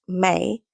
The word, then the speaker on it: me: For the Sumerians, one of the earliest known civilizations, energy was a divine current, mi, pronounced may, flowing through the body like sacred resonance.